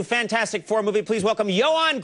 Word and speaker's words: Ioan: The name is Ioan, is I-O-A-N. Yes. And then Gruffudd is G-R-U-F-F-U-D-D, Gruffudd. Yes, that's how you would pronounce it, yes, phonetically, looking yes, at it.